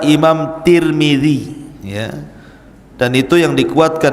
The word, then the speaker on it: Tirmidzi: Dan ada yang kemudian membacanya tarmiz, ada turmud, ada tirmid. Jadi ada sebagian ulama mengatakan Imam Tarmadzi, ada yang mengatakan Imam Turmudzi, ada yang mengatakan Imam Tirmidzi. Walaupun yang masyhur adalah Imam Tirmidzi ya.